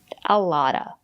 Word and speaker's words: a lot of: A lotta. The letter T is between vowels. We pronounce it as a fast D.